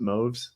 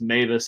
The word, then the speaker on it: Mavis: Is it Moves? No, it's Mavis actually. Mavis. Yeah. Really? Yeah, it's German. Don't ask me why it's pronounced that way.